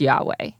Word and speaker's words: Yahweh: sounds were not recorded debate surrounds the pronunciation of the name however most Hebrew Scholars would agree that it is Yahweh our founder Jim Hutchins